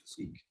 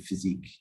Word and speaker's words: physique: They will pronounce it Physique. Yeah, Physique. Physique, yeah. So Sounds on French.